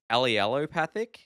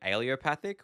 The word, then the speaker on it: allelopathic: whole video I was pronouncing wrong apparently it's allelopathic but I was pronouncing it alop which is apparently different and oh boy one